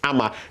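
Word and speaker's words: Ama: crazy or whatsoever again there's nothing like amma amma it's amma be careful what you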